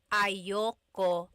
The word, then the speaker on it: ayaw ko: Usually it's pronounced ayoko siya. So if you want to sound a little bit more natural, you put everything together, ayoko siya. Ayaw ko siya is ayoko siya.